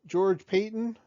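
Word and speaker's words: George Paton: here um broncos have hired a new gm george payton that's how you pronounce his name he comes from the ma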